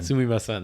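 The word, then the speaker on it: すみません: uh so how do you say that again sumimasen sumimasen that's right which when i was listening in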